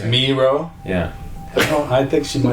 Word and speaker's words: Miró: So it should be Miro. No, there's an accent on the. Oh. No, but she was yelling something. She was like, it's Miro.